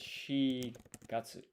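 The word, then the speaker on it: 四月: And weirdly enough, for months of the year, you go with the if there are multiple options for how to say the number, you go with the less common one.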